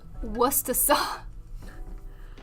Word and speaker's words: Worcestershire: The correct pronunciation of Worcestershire sauce is Worcestershire. Worcestershire?